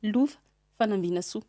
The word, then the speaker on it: Lova Fanambinasoa: » Alors, en malgache, ça se dit « Louv Fanambinasu ».